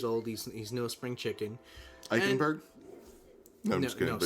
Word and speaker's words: Eichenberg: I think it's pronounced Eichenberg. Eichenberg. Yeah, you just got to be angry with it. Yeah, you got to guttural, and it's a guttural German thing. Get that German Eichenberg in there.